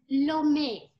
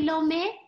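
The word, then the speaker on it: Lomé: uh country and the capital city is lo me can you say lo me one person said it can everybody say it i'm going to count to three one two three good job lomi that is the capital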